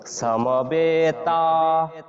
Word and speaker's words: সমবেতা: সই এইভাবে উচ্চারণ করব এস ও স যেভাবে হয় এইভাবে উচ্চারণ করব এইজন্য আমরা বলেছি সমবেতা সমবেতা এরপর 29 জটা